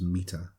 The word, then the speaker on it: mita: It's MITA. It's pronounced META.